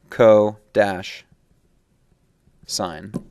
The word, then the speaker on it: cosine: this next one is referred to as cosine pronounced Co dash sign and the third one down below here is